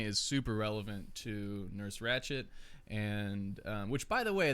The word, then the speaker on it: Ratched: but it just sounds like a T when you pronounce it. Yeah. I don't know. I don't know. Who knows? I think it's Ratched. See, and you don't even know. Like, I don't even pronounce the D or the T. It's just Ratched. We say Ratched. We're from Texas. That's Yeah, I true. guess so. You say ratchet. Ratched. And it's almost English. Almost Ratched.